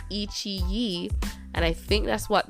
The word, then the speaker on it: iQIYI: because I was like, it's Chinese, and in Chinese I think QI is chi, so it's Ichi, and I think that's what the name of this what was it, this website is called, Ichi.